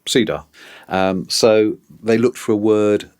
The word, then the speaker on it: CEDAR: had cyen D mhm obviously pronounced Ceda um so they looked